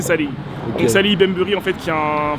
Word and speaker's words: Salehe: avait un qui s'appelle sali benberi je prononce bien j'espère mais apparemment c'est Sally on va dire que c'est Salé en fait qui a